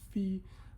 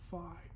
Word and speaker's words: phi: The magnitude is called r uh and the phase angle is called phi or in in modern Greek this is pronounced f but we'll refer to the English pronunciation fi.